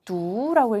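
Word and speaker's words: 读: 두라고 읽는데요. 중국어로.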